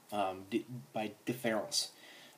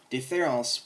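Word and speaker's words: différance: So Deference, we have difference and deferral. Deference is written like this. Sorry. And here he adds this A. That A in the French pronunciation, these two are pronounced the same.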